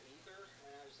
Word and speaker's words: Aether: Because I thought that I read God of Upper Air is actually pronounced Ether, and I was like, I'll just call it Aether instead.